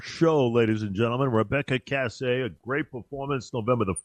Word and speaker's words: Kassay: way you got it you got it it's Cass Cass the the one that's a little bit of a stretch is but I always if someone says that if